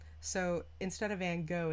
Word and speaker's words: Van Gogh: The G is actually pronounced like ho, right? So instead of Van Gogh, it's Van Gogh.